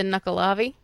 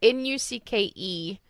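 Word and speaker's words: Nuckelavee: Is it the Nukkalavi? Nope. Okay. Nope, never would have gotten there. Yeah. Nope. That I've could never be even heard a that mispronunciation, and probably is. It's Nukkelaveee.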